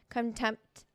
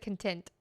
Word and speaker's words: contempt: something like if they really love their kids contempt there we go did I say it right you said content I content contempt content content cometit come come